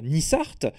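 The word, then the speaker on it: nissart: nissard en provençale rhodanien on va aussi retrouver le terme prononcé nissaert à Nice à Nice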